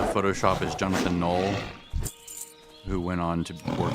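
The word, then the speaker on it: Knoll: way, but it's pronounced null, right? So, you know, Photoshop, original creators of Photoshop with his brother, Thomas Null, blah blah blah blah. The K is silent. So it's not canol, it's null.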